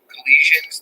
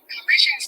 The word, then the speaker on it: Colossians: Collisions 213 around Los Angeles. Hey, hold on. All right, I'm not saying it right. Colossians.